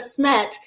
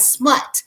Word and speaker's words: SMET: So instead of SMET, it kind of started sounding like smut.